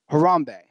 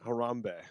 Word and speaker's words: Harambe: it why we're talking like how do you pronounce har a MBE Harambee Harambee yeah I had to do a little deep